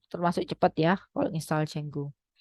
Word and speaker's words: Django: Ini termasuk cepat ya kalau install Django. Django, tulisannya Django ya, tapi bacanya umum orang ngomong Django.